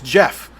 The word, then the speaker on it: Geoff: My real name is Jeff, and it's spelled with a G.